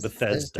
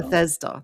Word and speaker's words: Bethesda: Beth Bethesda. Bethesda. That's it. Bethesda. Thank you. I'm so bad with pronunciations as you can tell.